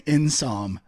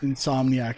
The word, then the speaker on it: Insomniac: end when that host kept saying insom instead of in insomniac studios like when you're saving half a syllable like get real just say that in some those people over at